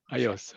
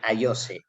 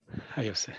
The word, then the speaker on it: Ayose: Ayos. Okay. Ayos. Okay, great. I wanted to ask that as well, to be honest. Indeed, the final E, it is pronounced E in Spanish, so it'd be Ayose. Ayose, yeah.